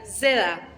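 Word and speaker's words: zeta: escribe de esta manera Este es el nombre de la letra seda tiene este sonido de DS es una consonante doble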